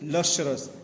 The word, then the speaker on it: lustrous: Lustrous, the pronunciation is lustrous, Lustu. It is not ta, it is cha.